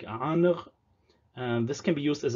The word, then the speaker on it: ankh: So in Egyptian we have this word, which is conventionally pronounced ankh by some Egyptologists, or if they're Arabic speakers, sometimes they say ankh, though the reconstructed pronunciation was probably more like aanr.